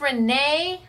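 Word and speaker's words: Renae: Is this Renee? R-E-N-A-E. Yes. So yes, I've never seen Renee spelled like this, or maybe I have and I just didn't know it was Renee.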